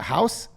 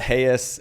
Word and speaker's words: Haeus: I call it Hayes. It looks like house, Haeus. I like the way A's and E's look together.